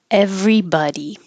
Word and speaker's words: everybody: wrist and wrist watch everybody everybody the b o d y in everybody nobody some somebody anybody sounds like buddy like my friend buddy but when it's by